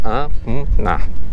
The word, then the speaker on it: Anna: Como eu estava falando, aqui no Japão, existe o N, né? O N é pronunciado. Então fica Ana, né?